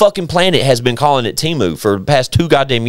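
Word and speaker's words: Temu: Chad it's a marketing employ it they say TAMU TAMU TAMU TAMU TAMU like the whole the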